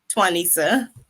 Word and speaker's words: Twanica: So I'm gonna say your name wrong again. It's okay. Twanica.